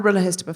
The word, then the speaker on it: RHLSTP: Are you more of a Guilty Feminist fan or a RHLSTP fan?